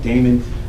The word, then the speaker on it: Daymond: platforms at the shark Damon Damon is like spelled with like Raymond but with the deep and of course the